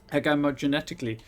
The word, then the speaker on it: agamogenetically: This organism infects other cells through osmosis, then mutates and reproduces agamogenetically. What's most agamogenetic? No, I'm assuming it's a hard G for the first one.